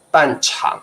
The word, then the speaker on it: 半场: 声，对，都是念 3 声嘛，对不对？对，好的，半场，因为我看那个多音字有个长，不晓得什么时候有，从来没有用过。